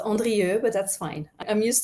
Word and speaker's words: Andrieu: I would say so my last name is called is uh is pronounced Andre but that's fine I'm